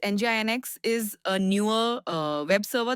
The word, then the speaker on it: NGINX: Pronounced like NGINX, NGINX is a newer web server that was designed to handle high traffic and heavy loads efficiently.